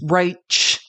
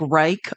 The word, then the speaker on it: Reich: say his own name it is R like a sh not a CH and if you don't remember Robert we used to call him Robert it's spelled like Reich re e i c